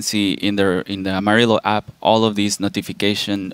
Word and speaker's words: Amaryllo: Dave's mispronouncing it no it's not Emma Rio it's Amarillo it's summer yeah that's